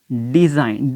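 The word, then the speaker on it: design: अब अगर I और N के दरमियान में G आ जाता है तो फिर क्या होगा, G यहाँ पे प्रनाउंस नहीं किया जाएगा लेकिन लिखा ज़रूर जाएगा। मिसाल के तौर पे यहाँ पे हमने एग्जांपल भी दी है, साइन डिज़ाइन। इस तरीके से अगर हम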